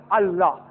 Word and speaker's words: Allah: They write it as I-L-A. But when you pronounce it, we have to tell them, pronounce it as Allah.